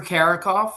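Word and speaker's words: Carickhoff: Could you please state your name then spell it for the stenographer? Karakoff.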